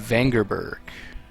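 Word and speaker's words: Vengerberg: Then there's Yennefer of Vangerberg. See, that's how you pronounce it.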